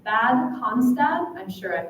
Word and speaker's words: Bad Cannstatt: Bad Cannstatt. Bad Cannstatt.